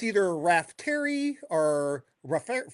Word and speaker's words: Raftery: I wanted to make sure I got your name pronunciation right. But I'm going to go with Brian Rafty.